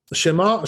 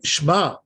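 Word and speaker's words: שמע: is that they say Shema, Shema. This is no good. Why? Because they're not pronouncing the which is under the shin.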